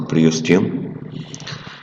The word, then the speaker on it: periosteum: The long bone surface is covered by a tough membrane called periosteum if you like, we pronounce it periosteum.